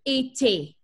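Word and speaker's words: étaient: ENT we should not pronounce. You guys agree with me? Yay. So it leaves us with été.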